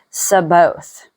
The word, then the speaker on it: Sabaoth: And I kept seeing in certain areas Jehovah, and I found out it's pronounced Sabaoth. But it looked a lot like Sabbath to me.